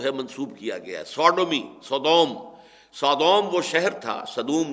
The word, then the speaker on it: Sodom: کی طرف جو ہے منسوب کیا گیا ہے، سوڈومی، سودوم وہ شہر تھا، صدوم جس کو ہم